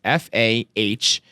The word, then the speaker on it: Faherty: That's FAHERTY. Think of it as Faherty. Faherty. Yes. So how do you spell it? I would spell Faherty FAHERTY. So it's more like Faherty. It's like Faherty. You gotta really hit the brogue.